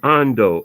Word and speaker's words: Ondo: And the other town is Ondo, Ondo.